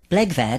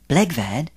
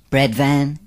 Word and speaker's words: Blegvad: correctly pronounced in English bvad rhymes with egg bad give it a try bvad bvad good it's simple when you know how isn't it nevertheless Peter bvad continues to hear it mispronounced Bread Van bath plug bed bug